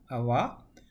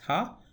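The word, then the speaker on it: は: particle earlier we saw this is again pronounced as AWA even though in alphabet we pronounce it as ha when you make it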